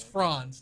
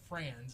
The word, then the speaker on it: Franz: don't that's no no my name is franz not friends and i don't tell